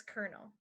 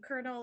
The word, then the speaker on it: colonel: the restaurants new aesthetic the next one is colonel and colonel is a rank in the military so to